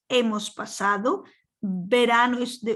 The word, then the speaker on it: hemos: So now the H is not pronounced. Hemos pasado.